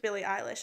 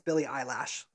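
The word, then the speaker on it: Billie Eilish: I developed a huge Billy eyelish Obsession like okay valid unhealthy but you did pronounce her name wrong it's Billy eyelash Oh Billy eyelash sorry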